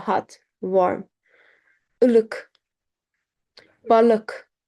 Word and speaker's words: Balık: We don't say balik. Balık, k. Balık. Izgara, ızgara. Kalın, k. Balık here, erkek, k.